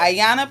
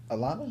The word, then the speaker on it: Ayona: Ayana plays Alana on It's a Rap. Yeah. Key main Julie's character. bouncing around, She's a main y'all. character with Legend. Main character, I'm Legend. This is Alana?